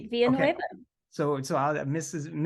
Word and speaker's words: Villanueva: Her name is Villanueva. Villanueva? You said it right, Okay. Villanueva.